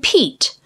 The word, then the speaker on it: Pete: Look at the words pet and Pete. By putting a silent E at the end of pet, the vowel sound changes from short E, E, to long E.